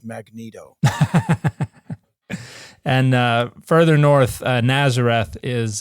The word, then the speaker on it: Megiddo: It's pronounced Magneto.